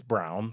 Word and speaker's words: Braun: Braun. Okay. It's brown, but okay. It's spelled like brawn.